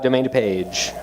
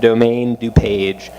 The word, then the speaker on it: Domaine DuPage: So again, it's called Domaine Dupage. People get really French with the pronunciation. The brewery's settled in beautiful DuPage County, Illinois. That's the name. So you hear a lot of Domaine Dupage, and you hear people